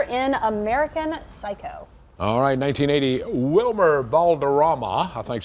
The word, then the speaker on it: Wilmer Valderrama: Best Supporting Actor in American Psycho alright 1980 Wilmer Valderrama I think how you pronounce it 39 years old started on TV